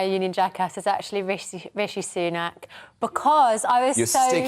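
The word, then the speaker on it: Rishi Sunak: God it's embarrassing isn't it well I can pronounce his name properly and my union jackass is actually rich rishy sunak because I was so you're sticking to type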